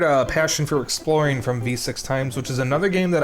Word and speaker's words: VVVVVV: titled vvvvvv if you didn't know it's actually pronounced V6 times it is not vvvvvvvvv uh it was created by Terry Kavanaugh who